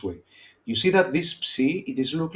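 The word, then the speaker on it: ψι: This is a letter psi. Okay. And it's a psu sound. Okay. Like in laps, in the pronunciation, if you can see laps.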